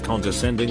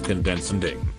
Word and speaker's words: condescending: the significant others my husband pronounces condescending as condensating and it drives me crazy i've told him how it's pronounced a couple of times but he still keeps saying it i feel like i'm